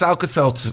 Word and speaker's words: Alka-Seltzer: the shelter too well Plus again you you mispronounced alka-seltzer the first time missiles is its alka-seltzer Sal Cassano or whatever I think that's you